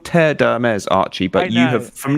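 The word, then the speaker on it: Terre d'Hermès: i got hermes mazda terry terry odemez i love terry i love the way you pronounce that it's called tear dermes archie but you have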